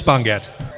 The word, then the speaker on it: Bongat: He wrote, "My last name is pronounced Bon as in bonfire and Gat as in Gatling.